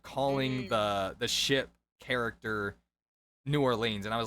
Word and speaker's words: New Orleans: was like okay look it's pronounced New Orleans or as in the as in a type of mineral and lens like the lens of glasses and he was so